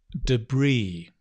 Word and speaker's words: debris: english what else debris say that with me right debris yeah right notice the letter s is silent debris debris is just